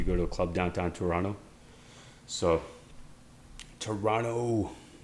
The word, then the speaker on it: Toronto: to a club downtown Toronto. So, Toronto, we don't pronounce the second T in Toronto, by the way.